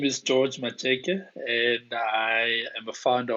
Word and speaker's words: Matsheke: Yeah, Matsheke, yes, How are you did.